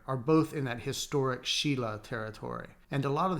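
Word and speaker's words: Silla: The kingdoms were this one, pronounced Goguryeo, this one, pronounced Baekje, and this one, pronounced Sheila, you know I want to be the only one.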